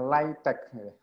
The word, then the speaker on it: LaTeX: jadi apa itu latex Apa itu latex diucapkannya like-tag kletek paket perangkat lunak yang